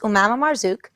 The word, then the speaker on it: Omama Marzuq: So it's pronounced Omama Marzuq, and that's about it.